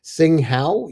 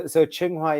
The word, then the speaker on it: Tsinghua: He has a degree from I'm going to screw this one up, Tsinghua University and INSEAD in the University of Toronto.